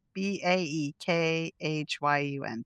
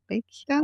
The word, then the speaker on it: Baekhyun: I'm going to spell it. He's from EXO. B A E K H Y U N. B Baek Baekhyun?